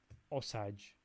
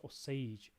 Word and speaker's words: Osage: been telling me that it's not pronounced osage or sagination it's or sage osage but yeah i did